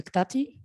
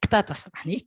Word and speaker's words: Ktata: Après, nous avons Dr Farah Berika Ktati. J'espère que j'ai bien prononcé. Ktata, Ktata. Vous êtes maître assistant en informatique à l'Institut supérieur de sciences appliquées et de technologie de Sousse, ISAT-Sousse.